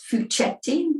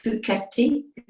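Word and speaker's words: Fouchetti: some pieces by Pietro fuketti sometimes pronounced uh wrongly as fuchsetti but it's fuketti because it's Italian and these are the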